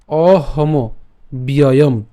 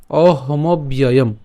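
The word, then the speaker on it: অহমব্যয়ম্: তাহলে বান অহম অহম ব্যয়ম অহম ব্যয়ম, ঠিক আছে। তো আমরা এখানে অহমব পর্যন্ত উচ্চারণ করতে পারি, অহমব, এবং জফলার থাকার কারণে আমরা জানি জফলাটা কার মতো উচ্চারণ হয়? ইয়র মতো হয়।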